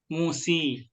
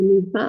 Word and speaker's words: Musa: Pernah nggak di setiap Quran nyebut baca Musi? Kan selalu sa kan? Namanya Musa, masa jadi Musi? Ya. Jadi karena dia alifnya alif bengkok, alif maksurah, dia tetap dibacanya sa.